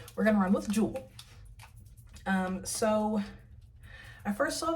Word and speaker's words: Jewell: I think it's pronounced Jewel that's how it's spelled except with the second l so we're going to run with Jewel um so I first